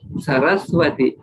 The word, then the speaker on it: Saraswati: both are only only so for saraswati we write w but instead we should write v only because saraswathi not sarah's smoothie is not so so here uh